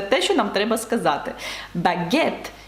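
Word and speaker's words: baguette: зрозуміліше чому там звук ж і чому не вимовляється і ще один важливий нюанс Подивіться будь ласка на слово багет французькою - це багет ви бачите як воно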